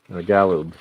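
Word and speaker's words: Galoob: Gallob.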